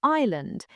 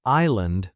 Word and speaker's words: island: Another one is island. The S is silent, right? It's island, not is land.